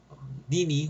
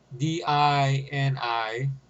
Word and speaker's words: Dini: The story was written by Paul Denner. Paul Dini, or whatever he's pronounced it, Dini.